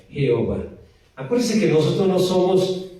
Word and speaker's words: Jehová: Entonces cuando nosotros vemos para pronunciar el hebreo del nombre de Dios, suena Jehová, ¿okay? No suena de otra manera, Jehová.